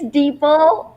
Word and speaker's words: Deepal: It's Deepal, just Deepal. like people. Like people.